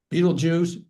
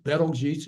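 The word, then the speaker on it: Betelgeuse: U Beetlejuice, Betal Geese. Betgee ways you could pronounce it.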